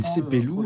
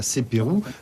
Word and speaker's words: Sepelou: Le choix du lieu, la colline Sepelou, ne prononcez surtout pas Sepérou, n'est pas anodin. C'est en effet ici que les Kalina ont combattu les premiers Européens.